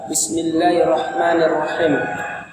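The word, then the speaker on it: بسم الله الرحمن الرحيم: Kalau misalnya Bismillahirrahmanirrahim itu salah. Ini lewat tenggorokan juga lewat hidung. Yang benar adalah Bismillahirrahmanirrahim. Dia lossing dulu. Nggak ada tempat keluarnya huruf H selain di tenggorokan. Nggak boleh lewat hidung. Harus lewat tenggorokan, kemudian keluarkan lewat mulut.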